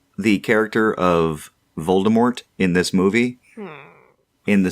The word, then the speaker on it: Voldemort: be pronounced yes exactly with the silent T because it's French and we'll get to